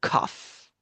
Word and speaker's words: cough: origin of these words, some words uh ended up having a gh that sounded like an F and in others is silent.